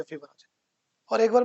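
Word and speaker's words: Fibonacci: वो एक मैथमेटिशियन था फिबोनाची। ओके। फिबोनाची फार्मूला है। और नेचर में भी है फिबोनाची और एक बार मैं ऐसे YouTube पे कुछ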